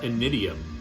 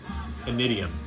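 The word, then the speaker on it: Initium: I believe it's pronounced Inidium. It's a Latin word, and I'm not going to pretend to be smart. I looked that up. Inidium.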